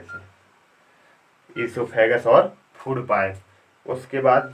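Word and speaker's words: oesophagus: Mouth के बाद second point आता है ईसोफेगस। सेकंड पॉइंट आएगा, ओ होता है इसमें, ओ साइलेंट रहता है तो हम लिखेंगे इसे ओ से ईसोफेगस।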